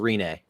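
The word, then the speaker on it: Rinne: the e okay the first one was pekka renee patrick is a very kid yes it's these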